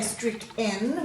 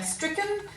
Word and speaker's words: stricken: making a schwa sound so we don't say strict n we don't seem to pronounce it correctly or bracket we give it a schwa sound so we say stricken and bracket so we cut the sound short so let's highlight that e